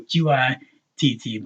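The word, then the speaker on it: قط: And because you have the shadda, you know that this is spelled, for example, Qitt with the taws, and the damatain, the tanween, right?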